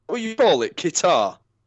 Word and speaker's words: Qatar: well you boil it Qatar it's right as it rhymes with guitar yeah it's Qatar Oh